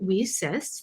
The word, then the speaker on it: WiCyS: our acronym w-i-c-y-s and we pronounce it we cis like we sisters because that's exactly what